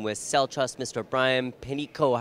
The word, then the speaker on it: Panicko: I am speaking with cell trust Mr Brian Peno how are you today sir I'm doing very